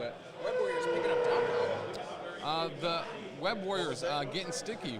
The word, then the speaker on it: Doc Ock: But I can see OCT and then just not really pronounce the T. Just say Doc. Correct. Right. I Doc.